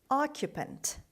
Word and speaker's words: occupant: Occupant. Occupant. Occupant. The stress is at the beginning.